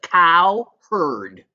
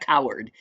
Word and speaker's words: Cowherd: Cowherd, not coward. Cowherd.